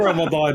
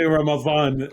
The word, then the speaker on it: Ramadan: they sound the same in iraq don't say ramadan we say ramadvan and that's it it's always the same dialects has that in